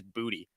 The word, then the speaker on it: Boutte: If you want to throw Boutte in there still as well, I think actually the official pronunciations came out, and it actually is Booty. Apparently, it is Booty.